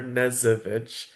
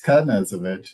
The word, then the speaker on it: Kazovich: Wait, is your last name Kazovich or Nezovich? It's Kazovich. Yeah, it's phonetically spelled.